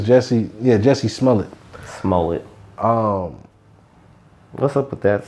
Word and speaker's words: Jussie Smollett: How you pronounce his name? I think it's Jussie. Yeah, Jussie Smollett.